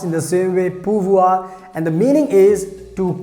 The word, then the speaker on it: pouvoir: model verb and that's called in french language pronounced in the same way purvua and the meaning is to can and to